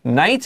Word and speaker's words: knight: 没错，我们今天的好书俱乐部单元要跟各位介绍的就是这部好书，就是为自己出征。它的英文的这个书名叫做 The Knight in Rusty Armor。And of course, you heard me and Anthony say KN 就发 N, The Knight in Rusty Armor.